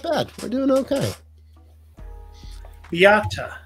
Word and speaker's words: Beata: Beata is how they're saying to pronounce it. Beata?